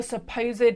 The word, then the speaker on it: supposéd: The next thing I noticed was where I wrote the supposed hind, where the accent on the E is needed to make it fit the rhythm, and I don't love that.